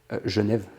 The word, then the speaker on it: Genève: Genève, je prononce avec l'accent, Ouais, c'est Genève.